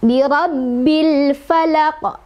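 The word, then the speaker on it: بِرَبِّ الْفَلَقِ: Maka cara bacanya adalah alif lamnya dibaca dengan jelas. Tidak boleh mantul, tidak boleh ditahan ya.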